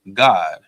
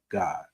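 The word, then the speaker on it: גד: Also, if you heard me read it in the Hebrew, you heard me say God. And that's actually how you pronounce the tribe of Gad in Hebrew. You pronounce it God.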